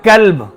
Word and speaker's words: کلب: کلب، کاف کے ساتھ۔ کاف اور قاف میں فرق ہے۔ آپ نے اگر قلب پڑھا، قلب کا معنی ہوگا دل، اور اگر آپ نے پڑھ لیا کلب، یعنی تلفظ کی کوئی ادائیگی نہیں، قاف کو کاف بنا دیا، کاف کو قاف بنا دیا، تو کلب کا معنی ہوتا ہے کتا۔ اب آپ کہیں قرآن